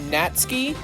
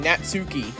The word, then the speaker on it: Natsuki: Also, while uh while looking for like a translation, um I found out that Natsky is pronounced like is pronounced like that. Natsky instead of saying Natsuki.